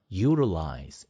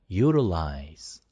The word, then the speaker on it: utilize: 그리고 utilize 이렇게 안 하고 utilize, util이 아니고 utilize, utilize 이렇게 발음이 됩니다.